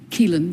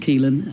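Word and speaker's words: Caoilfhionn: Keelin. Keelin. Yes. Uh it's got rather a lot of letters. Yes. But it's just pronounced Keelin.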